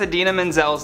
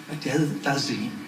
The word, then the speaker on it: Idina Menzel: Back in 2014, actor John Travolta famously mispronounced Idina Menzel's name while introducing her at the Oscars. Please welcome the wickedly talented one and only Adele Dazeem.